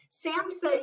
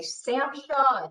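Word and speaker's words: SAMHSA: by the way folks samsa is substance abuse and mental health services administration so the age is silent because some people say samsha and you know it's also sam take out that age samsa uh dr bennett is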